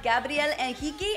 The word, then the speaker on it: Gabriel Henrique: and today we have Gabrielle and hiki I'm saying it the right way because he's Brazilian and that's how he pronounces it he for the first